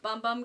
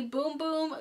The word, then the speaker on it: Bum Bum: Sol de Janeiro I heard that it's actually pronounced boom cream not bum bum cream so it's the boom boom carnival magic set this is what the box